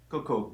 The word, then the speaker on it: Cokau: Cokau? Cokau, yeah.